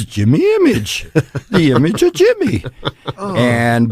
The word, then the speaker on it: Imij: My name is spelled Jimi, as in Hendrix, and then my moniker Jimi Imij is Jimi Imij, the image of Jimmy, which was given to